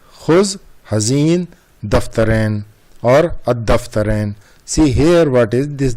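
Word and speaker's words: الدفترين: See here what is this, dal is the sun letter. So that's why we are not pronouncing al. we are pronouncing ad-daftarain, dal having the shadda. That's why it is coming ad-daftarain.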